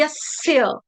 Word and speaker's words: यस्य: देखेंगे यस यस्य यस्य इसमें मैं यस नहीं पढ़ रही हूं यस बोलने से स आपका पूर्ण हो जाएगा यस नहीं है तो शब्द क्या है यस्य यस्य स यस्य यस्य